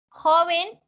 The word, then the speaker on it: joven: citar a en futuro joven y jóvenes como estábamos hablando ahorita importante ver qué joven es grave por eso no lleva tilde aunque hagamos mucha fuerza